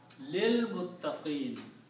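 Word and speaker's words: لِلْمُتَّقِينَ: And when you recite, you do not recite this alif in between. You combine this lam with this lam and pronounce lil, which is the word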